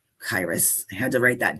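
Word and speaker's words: Kairos: This one in the middle, it's pronounced Chyros. Um, it's spelled like Chyros. K A I R O S, but it's pronounced Chyros.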